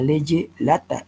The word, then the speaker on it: lege lata: Por contraposición a leye lata, lege lata se escribe ya, y lo otro es lege ferenda.